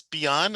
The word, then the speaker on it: Byun: It's Byun and not Byun, right?